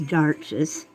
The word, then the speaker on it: d'Arches: my favorite watercolor paper is D'Arches, or D'Arches, however you want to pronounce it. It's French, so it's D'Arches.